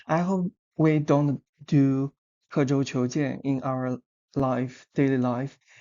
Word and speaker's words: 刻舟求剑: From left to right it is kě zhōu qiú jiàn kě zhōu qiú jiàn Here kě it means carve or mark.